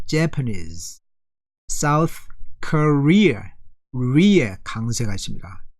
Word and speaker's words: Japanese: 그러면은 Japanese, 일본 사람들은 앞에 있어요. Japanese.